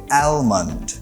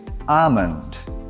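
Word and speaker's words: almond: এই ওয়ার্ডটি একটু unique because এই ওয়ার্ডটা অনেকেই প্রোনাউন্স করে অ্যালমন্ড, কিন্তু সঠিক প্রোনাউন্সিয়েশনটা হচ্ছে আমন্ড। ইয়েস, এই ওয়ার্ডে এলটা হচ্ছে সাইলেন্ট লেটার, তার মানে অ্যালমন্ড বলবেন না, বলবেন আমন্ড।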